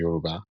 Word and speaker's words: Yoruba: We're from the west, which is Yoruba. Well, the proper pronunciation is Yuruba. We're Yuruba by tribe, but we're born in the house